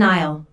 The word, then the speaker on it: aisle: I'll notice the silent S in aisle.